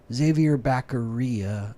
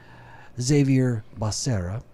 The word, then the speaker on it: Xavier Becerra: his name right or do I say it like Biden? Biden called him Xavier Becerra. I think it's actually Xavier Becerra.